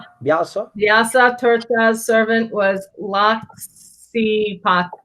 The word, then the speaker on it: Vyasa: Brahmanya Tirtha's servant was Vaisa Tirtha. Vyasa Tirtha. Vyasa, how do you say it? Tirtha? Tirtha. Tirtha? Tirtha. The VY. Vyasa.